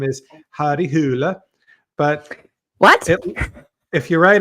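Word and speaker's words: Harry Hole: like his name is Harry Hull oh I didn't know that I've always just thought it was Harry hle which is like yeah it's it's not pronounced that way in Norwegian it's I think it's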